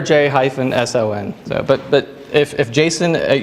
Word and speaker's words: JSON: three Jason's here who prefer not to call it Jason because that's it's a namespace name space conflict in the human world so I'm not going to go there so we pronounce it letter J - s oh n but but if Jason